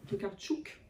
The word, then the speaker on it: Tokarczuk: c'est bah, avec son prix Nobel, c'est Olga Tokarczuk, c'est ça? Tokarczuk, pour bien prononcer.